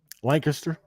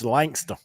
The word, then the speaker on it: Lancaster: mishaps and melees that took place at Lancaster Lancaster say it right I get I'll get uh jumped on by bumper Jack it's lster lster it's Langster lster but going into lster speedway on Friday